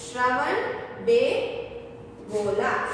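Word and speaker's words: Shravanabelagola: Which is इट श्रवण bell गोला. श्रवण bell गोला. तो spelling is एस एच आर ए वी ए एन ए वी ई एल ए G-O L A.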